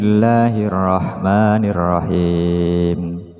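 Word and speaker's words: بِسْمِ اللَّهِ الرَّحْمَٰنِ الرَّحِيمِ: yang masih membaca bismill Bismillahirrahmanirrahim Jadi bukan him tapi he la bukan Le bismillah Bismi mi bukan mi padahal dalam al-qur'an itu yang ada harakat a i u jadi bacanya Bismillahirrahmanirrahim bacaan miring itu seringkiali terjadi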